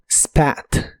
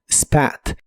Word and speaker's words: spat: el pasado es spat la a de esta palabra se pronuncia con el sonido que es la combinación de e y a spat spat y lo puedes usar